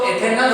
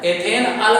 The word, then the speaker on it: एथेनल: उसमें क्या लगा दोगे, नाम में आ की मात्रा साइलेंट, तो एथेनल हो जाएगा, एथेन अल नहीं लिखोगे एथेनल होगा।